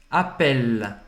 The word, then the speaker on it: appelle: Appelle, appelle. Não vai pronunciar esse E no final. Não é appeler, não é appelle, não é appelle, tá?